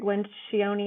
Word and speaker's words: Lencioni: I think the best book on hiring that I've read is by a guy named Patrick Lencioni.